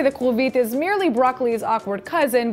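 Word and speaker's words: כרובית: Well, if you have, then you know why today's word of the day is kulvit, which is how you say cauliflower in Hebrew.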